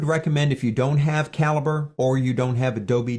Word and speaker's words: calibre: downloaded and it is free it's called calibre CA libr e it's pronounced calibre and if I open that one